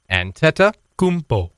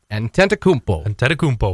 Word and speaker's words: Antetokounmpo: Take me through it syllable by syllable. Giannis. Antetokounmpo. Antetokounmpo.